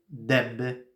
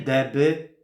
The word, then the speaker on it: Dęby: jak to wypowiedzieć znowu najpierw czyste e potem my czyli po prostu Dęby nie deby nie Dęby nie da